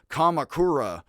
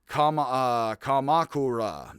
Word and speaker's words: Kamakura: You're supposed to pronounce it more like Kamakura, which is more like emphasis on each syllable.